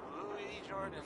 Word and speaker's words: Louis Jordan: Louis Jordan is up next. Key. It's spelled Lewis, but don't be fooled.